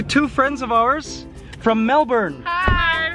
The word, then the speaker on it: Melbourne: introduce you to two friends of ours from Melbourne hi Hi how are you yes yes you didn't pronounce it right Melbourne Melbourne that's right and your names Nicole and